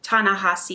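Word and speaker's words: Ta-Nehisi: non-stephen king between the world and me by tana hossi coates i looked up how to say his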